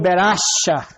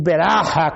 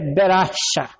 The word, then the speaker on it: Beracha: E aquilo que era para ser o vale da sombra da morte, Deus transformou em Beracha, ou Beraha, como alguns falam, e outros falam Beraca. Eu acho que a pronúncia correta é Beracha.